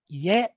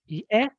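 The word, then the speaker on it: 家: So the one example is home, house, which is ie, ie from low to high. If I add a particle ni after word, then it's yeni, yeni. It drops on the particle.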